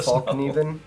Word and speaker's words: Fallkniven: If you guys think I'm pronouncing that wrong, fight me. It's totally Fallkniven.